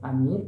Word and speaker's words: Amir: introduce myself my name's Amir and actually it's pronounced Amir because in Kurdish Persian and Arabic it's pronounced Amir and actually my name